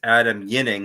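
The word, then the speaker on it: Ginning: It's Adam Yinning, not Jinning, as I've been saying for the past couple of weeks.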